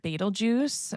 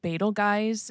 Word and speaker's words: Betelgeuse: I've heard Betal Juice, Betal Guys, and Beetlejuice as pronunciations coming from both professional and amateur astronomers.